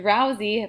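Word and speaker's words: Drowzee: So for example, the Pokemon Drowsy, pictured here, is spelt like this but pronounced drowsy, means sleepy.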